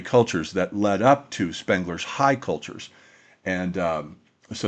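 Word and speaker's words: Spengler: Awakening Spangler uh to and I'm aware it's pronounced Spangler by by the way. It's just I've gotten into the habit over the years of saying Spangler.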